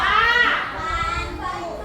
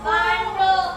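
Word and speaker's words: บัณฑุ: ลืม ตา ลืม ตาม คำ นี้ อ่าน ว่า บันดุ บันดุ ออก เสียง ดอก กลับ ไป ที่ เดม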